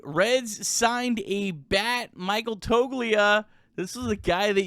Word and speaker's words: Toglia: Yeah, I think first off, I need to explain to Reds country that it's Toglia there's a G there that you don't pronounce. So it's Toglia.